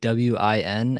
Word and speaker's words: Nguyen: it sounds like And ko, and but the last name is pronounced, if I am not mistaken, Nguyen. it's just say like WIN and you say it right.